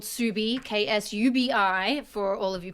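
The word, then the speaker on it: Ksubi: The store is called Subi, K-S-U-B-I, for all of you playing at home. Because the amount of times I would get people be like, Kasubi, I'm like, it's the K is silent.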